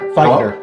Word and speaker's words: Feighner: Feighner.